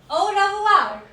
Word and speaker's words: au revoir: Au revoir. Au revoir. Au revoir. OI has a sound of OUA in French.